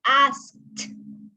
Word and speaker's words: asked: Teasing and asked. Asked. It's like a letter T at the end.